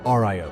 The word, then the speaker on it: RIO: In the back seat, you had the Radar Intercept Officer, the RIO, pronounced Rio.